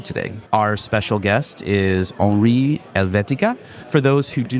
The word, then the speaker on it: Henri: So, yes, my name is Henri. As you may have heard just now, Henri is spelled with an I because I am French speaking.